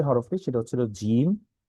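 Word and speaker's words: جيم: আচ্ছা, তারপরে যে হরফটি সেটা হচ্ছিল জিম। এখানে লেখা শক্ত এবং মজবুত আওয়াজে পড়তে হয়, জিম। এটা একটু শক্ত হয়ে, জিম, জিম, জিম।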